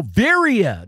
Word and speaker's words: Veriha: How do you pronounce the company name? Is what? Veriha? Oh, Veriha.